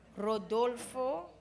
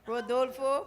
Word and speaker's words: Rodolfo: Now we're going to invite, I want to pronounce this properly, Rodolfo, oh no, Ro, it's one R. I learned that the hard way. Rodolfo Pereira, and he's going to do a solo piece for us.